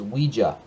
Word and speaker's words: Ouija: Next up on this list is Ouija, I believe is how it's pronounced.